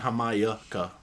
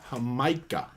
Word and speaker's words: Jamaica: I have a bad habit of saying Jamaica. Your sister pointed out it's Jamaica. I need to get rid of that extra syllable.